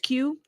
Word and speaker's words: Quay: Um, his name is just pronounced Q. Thank you. Q Q.